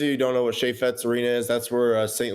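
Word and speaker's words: Chaifetz: How do you say the arena? Chaffetz? Chaffetz? Chaffetz. Gotcha. It's a French name. Chaffetz.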